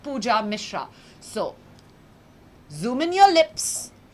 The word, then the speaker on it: Pooja Mishra: ban trolling ban cloning my name is easy and simple its pooja Mishra like I said not any of those which I said earlier but pooja Mishra so zoom in your